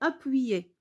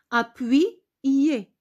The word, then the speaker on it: appuyer: On a souligné appuyer. Regardez. Y entre deux voyelles. Donc, c'est appui. Il joue le rôle de deux I. Appuyer.